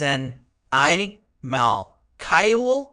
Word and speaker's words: animalcule: the correct pronunciation is an I Mal K with the stress on the second syllable lastly be cautious not